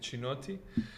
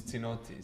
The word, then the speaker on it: Cinotti: ways yeah i mean it's italian uh yeah and therefore maybe it should be correct to pronounce it like chinotti but uh creation version is tinotti so all people usually say sinnotti okay so christian is